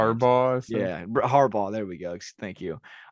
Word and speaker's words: Harbaugh: Yeah, Harbaugh.